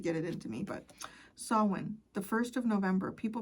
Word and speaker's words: Samhain: Samhain. See, I'm saying it right now. I know it takes you guys years to get it into me, but Samhain, the 1st of November, people perceive you as, wow, that's very interesting.